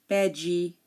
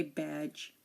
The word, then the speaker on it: badge: the letter D now D is silent before the letter G like in bad um it's not a bed um how how should I say it wrong um it's bad we don't say bed dig bed badgy no we say badge um the D is